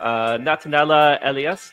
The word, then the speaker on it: Natanela Elia: And today we're talking to Natanela Elias.